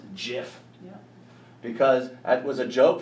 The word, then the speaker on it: GIF: format I know streamers the person who came up with the format says it should be pronounced jiff because it was a